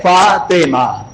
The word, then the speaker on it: فاطمہ: یہ نام جو ہے فتومہ نہیں ہے اور یہ نام فاطمہ بھی نہیں ہے. فاطمہ کیا ہوتا ہے؟ میں تو ٹوک دیتا ہوں، یہ نام ہے فاطمہ.